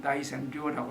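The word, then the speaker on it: 大仙陵: 이 일본에서 지금 세계문화유산으로 추진하고 있는 그 모저 고분군 여기에 있는 가장 큰 무덤 이것이 대선릉 일본식 발음은 나이센료라고 하는데요.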